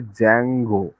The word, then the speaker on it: Django: এবং এই যে ওয়েব ফ্রেমওয়ার্ক, সেটার নাম হচ্ছে জ্যাঙ্গো, সেটার নাম হলো জ্যাঙ্গো। জ্যাঙ্গোর স্পেলিংটা হচ্ছে DJANGO, জ্যাঙ্গো, ডি এর উচ্চারণটা হয় না, শুধু জে এ এন জি ও, জ্যাঙ্গো এটাই বলা হয়।